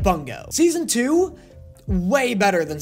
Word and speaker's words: Bungo: pronouncing this show two different ways apparently it's pronounced boom go but I like bungo season two way better than season one slow